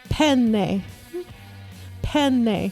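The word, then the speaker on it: penne: way to say it you don't say pen pasta it's not pen pasta it's not pen pasta no it's pen pen there's two n's oh the old Italian pronunciate cuz there's two of the same consonant so it's a long cons very important to say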